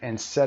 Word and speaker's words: instead: games on my computer instead of studying. I spend زمانی رو صرف کردن. I spent time playing games on my computer instead. تلفظ رو دقت داشته باشید. Instead stress در قسمت ted of بعدش هم studying